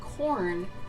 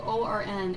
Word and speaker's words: Quorn: thing, actually two things, is this brand called Corn, which is spelled with a Q. It's Quorn, and it tastes just like turkey, but it's fungus.